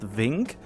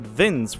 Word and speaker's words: Vinc: Interestingly enough, a lot of people I talked with initially think that Vince, V-I-N-C, is actually pronounced Vink, but in my native language, the C, when I pronounce C, there's an E at the end, so I always pronounce it Vince without an E at the end, but it seems like when it comes to the actual English native language, that the C is sometimes pronounced like a K.